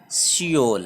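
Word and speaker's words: Seoul: तो ये north Korea जिसका कैपिटल प्योंगयांग है और साउथ कोरिया जिसका कैपिटल सियोल है। ठीक है ना। इसको कभी कभी प्रोनाउंस सोल से भी करते हैं, ओके ना।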